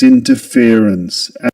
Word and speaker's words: interference: So, this is an interesting word because it's double stressed, which means there are two stresses or accents in the word. And they are in which can be indicated like this. In and fear. Fear. Fear. In and fear. Interference. Interference. So the main stress goes on fear. The syllable fear. And the secondary stress goes on the syllable in.